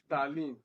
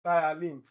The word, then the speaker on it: ptyalin: It's not ptyaline, it's thiolane, because this P here is silent.